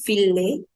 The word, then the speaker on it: fille: Fille will be pronounced as fille. Fille. That is same, ILL will be pronounced as double E, but it will also have sound of E and double E both. So it will be fille. Fille. Fille means girl.